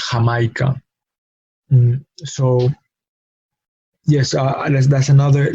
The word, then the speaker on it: Jamaica: English H, but it's definitely different from the English J. No, that we will see in jam or in Jamaica. No, in Spanish is Jamaica.